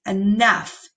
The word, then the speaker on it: enough: on the board is enough, enough. Now it's showing you up above how those letters are actually sounded out phonetically. But I want you to notice that the GH has an F sound.